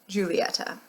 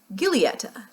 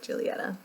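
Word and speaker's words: Giulietta: is correct it is Julieta but it's spelled g-i-u-l-i-e-t-t-a in my American accent I would pronounce this gileata but I think it's actually pronounced like Julieta uh this is just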